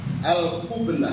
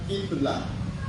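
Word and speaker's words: القبلة: Atani al-qublah. Nah, ini jangan salah baca ini. Kalau kamu baca kiblah, berarti artinya apa? Kiblat. Tapi di sini bacanya apa? Al-qublah.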